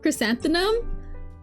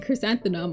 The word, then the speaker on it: chrysanthemum: Am I saying it wrong? Don't tell me I'm saying it wrong. Crosanthenum. Croissantum. Close enough. You're sounding out correctly. Yeah. I thought it was right. Crosanthemum. Crysanthemum.